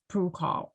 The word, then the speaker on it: PRUCOL: Can you talk about, is it pronounced PRUCOL status? PRUCOL? I'm not familiar with the term. Yeah, it's PRUCOL. Yeah.